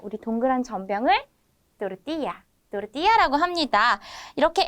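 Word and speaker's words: tortilla: 좋습니다이어서 닦고 닦고 싸먹는 거 우리 동그란 전병을 또르띠야 띠라고 합니다 이렇게 L 두 개가 사용되었을 때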